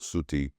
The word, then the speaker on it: Sati: compound Shiva's consort furthermore the goddess Sati pronounced Suti who destroyed herself because